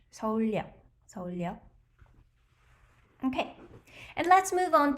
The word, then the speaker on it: 서울역: 서울역, 서울역. So this is the same thing. 리을 followed by the 여 vowel, so 리을 is inserted, which means Seoul station. 서울역, 서울역.